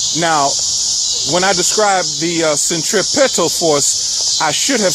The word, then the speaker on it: centripetal: Vortexes that are entering the earth move in a counterclockwise fashion and is known as centripetal force, spelled with a P, centripetal, like pedals on a bicycle.